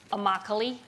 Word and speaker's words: Immokalee: a town in florida immokalee which it rhymes with broccoli it's a labor reserve